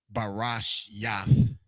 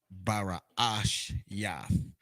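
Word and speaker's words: Barashyath: So you have your ba, your ra, and notice you have that double A. I just capitalized that second A to help with the understanding of how you pronounce it. So you wouldn't say Barash Yath. You would give it that extra ah. So a Barash Yath. Baraash Yath.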